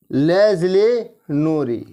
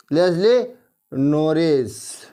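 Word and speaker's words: Leslie Norris: लिखा है लेजली नोरी लेजली नॉरिज देख लीजिएगा स्पेलिंग में गलत भी नहीं होना बोलने में भी लेजली लेजली लेजली लेस्ली नॉरिस लेजली नॉरिस ये थोड़ा अटपटे नाम है याद रखना जरूरी है आपको याद रह जाएगा लेस्ली नॉरिज है ठीक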